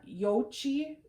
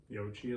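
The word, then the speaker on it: Yoichi: go no laughing nika yochi and distillery yochi like the dough balls mochi mochi got it all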